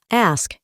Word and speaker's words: ask: Para pronunciar este verbo, no necesitamos una forma muy diferente de cómo se escribe, ask. Podemos escuchar cómo la K tiene una pronunciación muy clara.